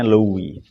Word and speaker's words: Louis: mana Kaisar Louis XVI, Louis ya, cara bacanya Louis.